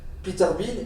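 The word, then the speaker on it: Peter Bien: grands critiques de l'œuvre de Kazanakis qui est Peter Bein, ça se prononce comme ça c'est ça Peter Bean, ils ont exagéré l'importance de cette influence.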